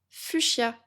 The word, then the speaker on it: fuchsia: Et enfin, la couleur la plus froide, fuchia. Je vais épeler fuchia parce que ça s'écrit d'une façon un peu spéciale. F U C H S I A Fuchia. En fait, on ne prononce pas le S.